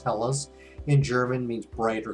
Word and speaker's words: Helles: That'd be pretty strange for Hellas Lager. I've had many of them and they're usually lighter medium body. This is 4.8% alcohol, 25 IBU. Hellas, it's spelled H-E-L-L-E-S. It's pronounced Hellas.